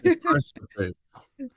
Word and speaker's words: Deprecipice: So your new album, I hope I'm going to pronounce this right now. Deprecipice. Deprecipice. There we go. Deprecipice.